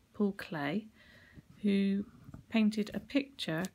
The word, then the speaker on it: Klee: his name is all clay e e for pronounced as if it's an a i or an a y and he was born